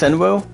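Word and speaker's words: Shinryu: It's pronounced as S-H-I-N-R-Y-U, it's Shinru.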